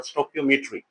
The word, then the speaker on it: stoichiometry: About the introduction of स्टिचोमेट्री। ये इसको स्टिचोमेट्री भी कहते हैं, स्टोकियोमेट्री भी कहते हैं। तो मेनली हमारे पास जो एक एक्यूरेट प्रोनाउंसिएशन है इस वर्ड की, दैट इज द स्टोकियोमेट्री।